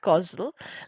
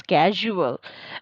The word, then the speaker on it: causal: changes so again that this word causal like Godzilla causal remember like reminds me of one thing there was a time when I had a friend who used to pronounce this as casual but yeah it might look like casual but it is not casually this causal or causal like it is for like the cause of this causal or causal so yeah